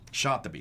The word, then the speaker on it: Shatibi: Now, how would you pronounce his name? Shatibi. Shatibi.